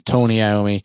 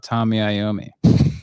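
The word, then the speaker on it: Tony Iommi: what we're talking about is tony naomi it's not tommy i'm not trying to be a dick but we can't be saying the guy's name wrong let me say tony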